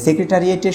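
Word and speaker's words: secretariat: শব্দটি লিখেছি এই কারণে সেটি হলো যে যে সেক্রেটারিয়েটের শেষে কিন্তু কোন ই নেই অর্থাৎ শব্দটার উচ্চারণটা সেক্রেটারিয়েট অ্যাট পর্যন্তই শেষ শেষে কিন্তু কোন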